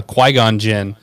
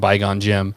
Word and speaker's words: Qui-Gon Jinn: wise line and uh but Matt could never say his name right, so he always called him Bygon Jinn. I honestly didn't I honestly thought Bygon Jinn was correct.